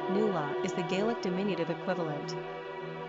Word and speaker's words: Nuala: Pronounced Nula is the Gaelic diminutive equivalent.